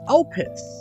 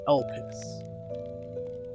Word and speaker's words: Elpis: So Matnus' goddess is Elpis. I think that's how you say it. It's E-L-P-I-S.